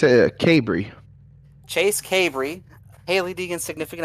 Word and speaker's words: Cabre: How do you pronounce it? It's a Cabry.